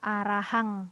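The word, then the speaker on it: arahaṃ: Oke jadi yang pertama ini kan araham memang benar tulisannya Kanada m begitu ya araham tetapi karena ada titik atasnya jadi dibaca arahang begitu dan ini Woody semua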